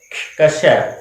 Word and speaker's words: क्ष: अक्षर, इसको बोलने में क्षय बोल देते हैं, कश्य बोल देते हैं, अक्षर बोल देते हैं, वो बोलने के उच्चारण पे डिपेंड करता है। लेकिन इसका सही उच्चारण है वो है कश्य, या फिर आप ये